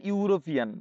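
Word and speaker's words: European: আ university ঠিক আছে তারপরে আবার দেখো একজন ইউরোপিয়ান শুধু মাথায় রাখবে ইউ উচ্চারণ কি ইউ বাংলায় ইউ উচ্চারণ আসা মানেই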